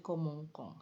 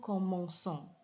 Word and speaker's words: commençons: Akan tetapi kalau ini tetap ditulis dengan C yang biasa seperti radikal yang lainnya, ini maka akan dibaca menjadi komongkong. Sedangkan yang lain ini dibaca huruf C-nya itu diucapkan bunyi S. Je commence, tu commences, il commence. Nah, ini nous commençons. Kenapa diganti C-sidil? Agar bisa pengucapannya atau bunyinya menjadi S, karena C-sidil pasti dibaca S.